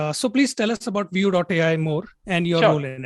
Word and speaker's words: VUE.ai: It's view.ai. It's easy to spell. Pronunciation is view. Yeah, view.ai.